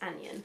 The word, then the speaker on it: anion: I think it's anion that you pronounce it. It's one of those weird words.